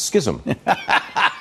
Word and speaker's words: schism: the pronunciation of Scism well it's not it's schism how do you spell